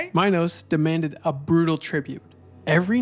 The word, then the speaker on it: Minos: As punishment for past rebellions, Minus I'm almost saying his name wrong now. That's all right. Minos demanded a brutal tribute.